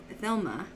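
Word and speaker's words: Thelema: like what elfie said thelma right is how you pronounce it thelma hello theloma felt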